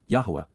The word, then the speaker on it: Yahowah: Yahwa the proper pronunciation of the name ofaha god as directed